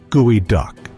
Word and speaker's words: geoduck: of the strangest mollisks, the geoduck, pronounced gooey duck.